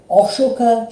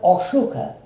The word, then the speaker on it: Ashoka: instruction of the Emperor Ashoka, also pronounced Ashok by certain people, who ruled over India sometime around at 200 BCE, or at least BC. His life was dramatic. As a young prince, Prince Ashoka was extremely violent, brutal,